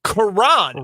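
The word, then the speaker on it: Kiran: You got the last name right and the first name wrong on our pal from Yale. It is Karan Amagaji. Karan. Okay. K-I-R-A-N. I would not have guessed.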